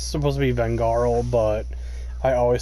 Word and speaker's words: Vengarl: It's supposed to be Vengarl, but I always say Fengrel. I know I say it like with an F, but it's just how I.